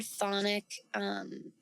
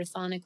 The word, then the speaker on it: chthonic: Now, as a chthonic witch, the word chthonic is spelled kind of funky. We'll put that on the screen. It starts with the letter C, actually.